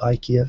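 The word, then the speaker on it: IKEA: does have its own ikia and Costco by the way they don't call it Ika in Japan they call ikia which I think is actually the correct pronunciation under the original Swedish but there you go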